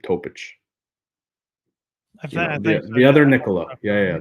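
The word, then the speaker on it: Topić: Lakers so 17 uh topic that's how you say his name topich the other Nicola yeah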